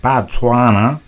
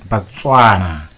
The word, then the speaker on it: Botswana: which led them to pronounce the word Botswana as putana and wrote it down